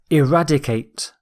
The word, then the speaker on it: eradicate: Our final word is eradicate. Eradicate. Stress is on rad.